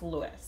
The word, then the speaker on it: Luis: is also named louise it's spelled l-u-i-s and i don't know how to say is it louise lewis i don't know it's lewis and of course the